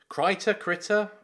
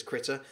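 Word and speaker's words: Krita: Now, Critter? We've had some debate on how to pronounce that. I say Critter, he says Critter. K-R-I-T-A.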